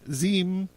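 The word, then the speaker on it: Diệm: of times, Nego Dan Ziem, they pronounce it Ziem, but it's Diem, was determined to uproot French influence as a concomitant to the establishment of a genuinely independent nationalist government.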